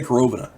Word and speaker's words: Korovina: corovina group corovina group I'm gonna say carobina because I'm pretty sure that's how it's pronounced my Russian isn't great